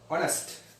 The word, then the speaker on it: honest: honest. honest කියද්දි අපි මේක honest කියලා කියන්නේ H එක silent.